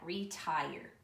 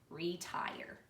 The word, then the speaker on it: retire: The word tire has a long I with that bossy R and a sneaky E. Tire, retire.